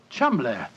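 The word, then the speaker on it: Cholmondeley: had no reason to know that the name Cham is in no way pronounced the way it is spell but Jo I never thought of that Cham that name spelled c h o l CH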